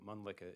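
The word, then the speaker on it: Mölnlycke: kind of hard to spell and pronounce. No worries. So Moleka is M-O-L-N-L-Y-C-K-E.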